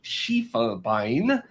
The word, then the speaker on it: Schiefelbein: And today we're going to be talking with Jill Schiefelbein, or Schiefelbein, pronounced in German there.